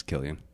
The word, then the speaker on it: Cillian: he's a good actor I thought his name was silly and kind of spelled with the seat but uh it's Killian hmm that's cool name yeah